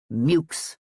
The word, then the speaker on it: Meux: by Henry Meux himself, who rejected the French pronunciation of his ancient family name and always loudly reminded anyone who erred that he and his beer were called Mooks.